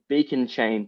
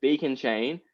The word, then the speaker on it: beaconcha.in: So they made the Beacon Chain block explorer. So it's Beacon Chain. The URL is Beacon Chain, but there's a dot just before the IN at the end.